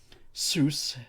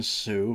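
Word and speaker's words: Soos: Seuss, better than Sue, but still is a bizarre name.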